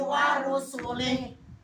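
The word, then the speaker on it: وَرُسُلِهِ: ya, itu bacanya wa malaikatihi wa kutubihi wa rusulih. Kutubihi wa rusulih. Pendek semua.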